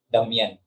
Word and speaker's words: Damien: Ang pronunciation ng Damien niya, Damian.